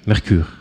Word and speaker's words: Mercure: It's French, Mercure. I'm saying it right.